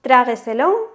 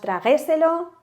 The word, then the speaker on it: trágueselo: ¿Dónde hacemos el golpe de voz? Decimos trágueselo, decimos traguéselo, tragueselo, decimos trágueselo, ¿no? Porque las otras suenan un poco extrañas.